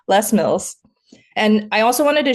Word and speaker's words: Les Mills: I'm using the French pronunciation, so excuse me, Les Mills.